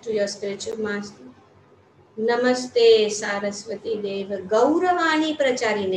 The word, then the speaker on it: Saraswati: नमस्ते सारस्वती, so we should pronounce it as सारस्वती, not सरस्वती, सारस्वती।